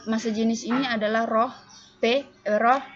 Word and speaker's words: rho: Rho dibaca ya. Lambang ini dibacanya itu Rho.